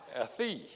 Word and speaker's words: Athey: a man named ron athief it's spelled a t h e y but he insisted it be pronounced like a hyphen t h double e ron a thief and